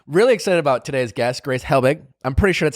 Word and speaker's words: Grace Helbig: my honey today really excited about today's guest grace Helbig I'm pretty sure that's how you pronounce it yeah I just say it really